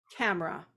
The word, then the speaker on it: camera: The best example, camera. When you say the word camera, there are 2 syllables.